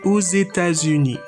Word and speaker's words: aux États-Unis: So for example, j'habite aux États-Unis. Again, I do the liaison with O. The X is pronounced because the next letter is E from États-Unis, a vowel.